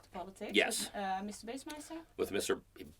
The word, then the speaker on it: Bassmeister: Bassmeister? With Mr. Bossmeister. Bossmeister. Oh yeah, of course, German. You pronounce it German way, yeah.